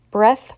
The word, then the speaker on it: breath: by giving them shirts breath versus breathe he took a deep breath after the test he can breathe deeply now that the test is over nouns in this case only have voiceless sounds and the verb has a this is not